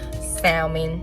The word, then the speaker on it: salmon: I used to say salami. I added that L.